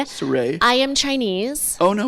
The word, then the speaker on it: Saray: But phonetically, since it's spelled, and for some reason my mom put a U, so it's just easier to say Saray.